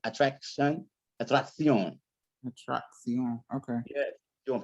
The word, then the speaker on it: atracción: When you got double C's, you want to pronounce them like a C and a K. It's like acciones. What you got here? What do you have here? Atracción. Atracción.